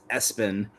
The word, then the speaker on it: ESPN: His sports obsessed father legally put ESPN pronounced Espen as his middle name